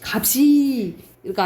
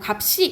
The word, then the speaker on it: 값이: 이것도 의미가 없는 형식 형태소가 오면은 그냥 연음되는데 시옷은 쌍시옷 된 소리가 나요. 시옷은 예적으로 된 소리. 그래서 값이가 아니고 값이 이렇게 발음 나는 거지.